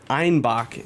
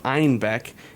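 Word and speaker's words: Einbeck: through germany into munich people started mispronouncing the name of the city to einbach instead of einbek and then so they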